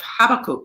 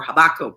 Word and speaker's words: Habakkuk: lament from the book of habakkuk or habakkuk however you choose to pronounce it apparently they're both correct um and it's he's